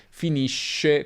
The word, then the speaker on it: finisce: Finisco come sconto, per esempio, finisci come sci, finisce come pesce.